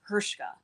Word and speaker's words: Hrcka: last name is pronounced hershka like it was h-e-r-s-h-k but it's h r c k so there's no vowel except for the a except for the a so it's hirschka so whenever i've called